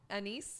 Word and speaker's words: anise: tonight you Badger no anise whatever that black licorice flavor disgusting I think it's pronounced Anis Anis but I could be wrong because my grandma used